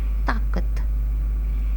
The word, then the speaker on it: طاقت: बे रे पर, ते रे छोटिए री, बरतरी, دوسرا الفاظ ہے طاقت، طاقت، توئیں الف تا، تا کاف تے کت،